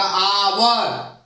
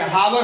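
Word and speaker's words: hour: यहां पर एच का उच्चारण ह होना चाहिए, हावर हो रहा है। यहां पर एच है जो क्या है, साइलेंट है।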